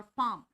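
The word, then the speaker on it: palm: your फार्म L silent है यहां पर ध्यान रखना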